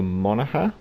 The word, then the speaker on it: Monaghan: on the PC now I'm gonna go for mana her because I believe the G is silent however she is named